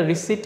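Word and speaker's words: receipt: কার্ডে হয়তোবা আমি পে করেছি স সেটার একটা রিসিট কিন্তু অলরেডি আসে।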